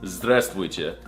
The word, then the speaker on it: здравствуйте: No, that's not how you say it. It's здравствуйте.